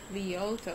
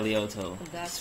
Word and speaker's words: Lyoto: Lyoto. Yeah, Lyoto. Spelled as Lyoto. Lyoto. Yeah. Machida, and it's like, it rhymes with Vegeta.